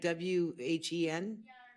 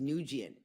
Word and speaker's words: Wen: It's when like wen because I'm really embarrassed because I every I always heard it pronounced nian but it or